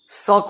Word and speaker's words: shirk: इसका इंग्लिश शक होता है, SHIRK, शक। आर को थोड़ा सा प्रोनाउंस करेंगे, पूरा प्रोनाउंस नहीं करेंगे, सर्क नहीं बोलेंगे। जनरली कुछ लोग सर्क भी बोल देता है, बट शक आप बोलिए, ही इज अ शक।